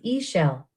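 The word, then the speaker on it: Ixchel: Yep, nine shell's name is sometimes pronounced e-shell, which sounds like eggshell.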